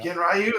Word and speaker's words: Ganryu: Is it Ganryu? How do you say that? Genryu. Yeah. Genryu.